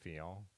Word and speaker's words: Fignon: But I guess I bet in French they don't pronounce the T, right? So Laurent Fignon.